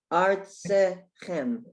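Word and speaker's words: אַרְצְכֶם: Okay, you have two shvas. So the first one is an ending shva. Arts, it's the end of the syllable, and the next one has the sound of I, as an if.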